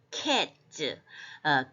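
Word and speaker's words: קץ: 그 다음에 캣즈, 이 짜대는 쯔에 가깝기 때문에 캣즈인데 이 코프하고 소피트 마지막에 오는 짜대가 같이 나란히 있잖아요.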